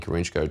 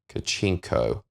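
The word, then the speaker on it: Kharchenko: was said during that encounter remains unknown, and Karenchko travelled... Kachenko.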